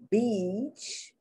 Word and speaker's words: beach: or are portuguese but people who speak spanish pronounce this e a incorrectly they pronounce it not like the long e beach they pronounce it like the short i and when you pronounce it like the short i it is a curse word it is what people sometimes call females or other males when they want to insult them so when i'm teaching